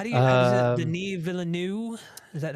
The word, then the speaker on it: Villeneuve: his last name, and I've heard people pronounce it. So I don't know if it's Villeneuve or Villeneuve, but it's whatever you want it to be, I guess, right?